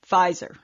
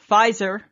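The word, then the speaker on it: Pfizer: about blah blah blah fizer and I'm like hey and then I see it and I'm like spelled with a p sounds like an F hey dear Samantha do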